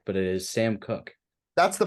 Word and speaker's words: Sam Cooke: It was I'm not 100% sure if I got the pronunciation correct, but it is Sam Cooke. That's the pronunciation and the guys.